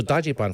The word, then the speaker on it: dajiban: that Generation Um so Dody Bon first of all is the literal pronunciation of how the Japanese pronounce Dodge fan they break up the Dodge Dody and then ban Bon right and um yeah so